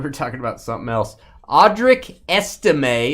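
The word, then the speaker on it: Audric Estimé: talking about something else audri esime is what I'm told I'm supposed to say there by my producers audri esime and sker makes fun of me when I say it wrong uh Denver Broncos Dave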